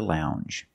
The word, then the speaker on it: lounge: have the J sound the regular n n plus the J sound Lounge lounge and another